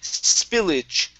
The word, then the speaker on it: spillage: Okay, here we have the word spillage. Now, the A-G-E here, we're actually going to pronounce like an I-J sound.